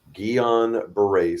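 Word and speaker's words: Guillain-Barré: because given your illness, and I can never pronounce it. Can you say it once again, please? Gon Beret syndrome. Gillon Beret syndrome.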